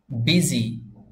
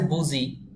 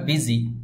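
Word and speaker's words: busy: এটার অর্থ হবে বোকা বিজি লেখা আছে বুঝি কিন্তু উচ্চারণ করতে হবে বিজি বাংলা ভাষার ওই ওয়ার্ডগুলোর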